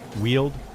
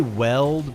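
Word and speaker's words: Weald: You say you say um wield. Yeah. My answers for pronunciation. Yeah. W like I I say weld, but it could be wheeled. I could see it both ways, but you know, I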